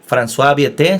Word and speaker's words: François Viète: Aquí hay un matemático francés, François Viète, según mi pronunciación.